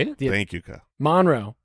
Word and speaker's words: Monroe: Well, that's how you say it if you're from there. Okay, that's more of a like. How do you say it if you're not from there? Monroe. Monroe, but you're Monroe. That's like we've got Prescott.